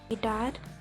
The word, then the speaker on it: guitar: When U comes after G, it is silent. Mean U G के बाद आता है तो नहीं बोला जाता है. For example, guitar, card.